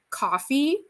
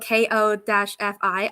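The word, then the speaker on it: Ko-fi: Um, same with like coffee like that's spelled K O- Fi. I always called it Kofi. And then people were like, "Buy me a coffee."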